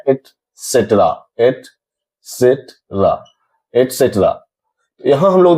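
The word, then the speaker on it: et cetera: एटसेट्रा, इसका pronunciation है एटसेट्रा। ईटीसी means एटसेट्रा। एक्स्ट्रा नहीं है, एक्स्ट्रा नहीं है, हम इसे बोलते हैं एटसेट्रा मींस इत्यादि, आदि।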